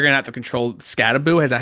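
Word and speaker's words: Skattebo: So they're going to have to control Scattaboo. Is that how you pronounce it?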